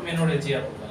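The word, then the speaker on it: menorrhagia: এর উচ্চারণটা হয় না মূলত, মেনোরহেজিয়া বলবেন এটা, হ্যাঁ?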